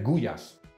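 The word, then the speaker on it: gulyás: Ahora, eso sí, yo sé que no se dice goulash, se dice gullas.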